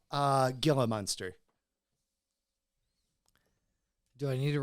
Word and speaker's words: Gila: actually pronounced Gila monster.